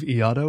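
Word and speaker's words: Ieodo: kim ki young called i believe iado is the pronunciation yeah and that's that's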